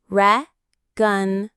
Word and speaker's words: reconciliation: Reconciliation. The main stress is on that second to last syllable, A. Reconciliation.